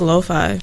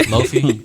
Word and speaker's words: lo-fi: I like lo-fi. Lo-fi music is cool. Yeah. You know, I've been pronouncing that wrong for the longest. Lofi, I say Yes. Lofi too. It's lo-fi.